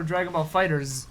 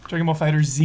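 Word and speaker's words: Dragon Ball FighterZ: pronouncing Dragon Ball Fighter Z or Dragon Ball Fighters? Dragon Ball Fighter Z?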